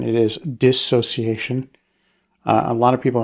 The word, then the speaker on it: dissociation: one one the first one is the the pronunciation it is dissociation uh a lot of people out there will pronounce it dis association right they'll add they'll add add to a